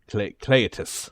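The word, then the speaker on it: Cleitus: Cletus really just yeah Cletus to Black uh it's spelled c-l-e-i-t-u-s in this way Cletus but I think it is uh he has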